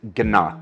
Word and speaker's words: Gnat: So my last name is Gnat with a hard G, and the last word